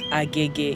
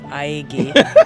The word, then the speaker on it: Agege: Is it true that Lagosians can tell that you're not from Lagos if you pronounce it agege instead of aege?